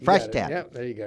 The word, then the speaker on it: Freishtat: Freishtat. Freishtat.